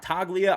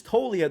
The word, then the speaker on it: Toglia: Michael Toglia, it is not Toglia. I botched that name for so long, but it is Toglia. The G is silent.